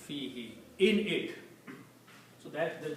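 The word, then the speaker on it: فيه: But in the recitation, to make it easy on the tongue, it is pronounced as fihi. It is not pronounced as fihu.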